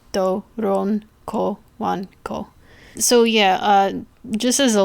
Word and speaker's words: Doronko Wanko: Well, yes, I know, but Doronko Wanko, if that makes it any. It's spelled exactly how I said it. Doronko Wanko.